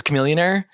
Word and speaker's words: Chamillionaire: from the early 2000s Chamillionaire sure the billionaire rhymes with Chamillionaire I'm pretty sure there